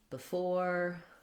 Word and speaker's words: before: So behind is a similar, many other words that start with BE that are unstressed on the first syllable do the same thing. We have between, before, beside.